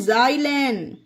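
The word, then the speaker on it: xylan: एक्स वाई आल ए एन इसे पढ़ते हैं जाइलन ओके गाइ जाइलन ये देखिए एक्स वाई एल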